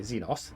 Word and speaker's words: Xenos: Oh, Urallet is a Zenos, one sorry, Zenos, if I should pronounce it properly, one of the Asani.